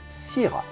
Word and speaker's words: syrah: have to say syrah in french we would say sira the australians do call